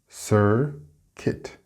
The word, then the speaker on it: circuit: Next we have another U-I-T sound, and it is circuit. Circuit. It's not circuit.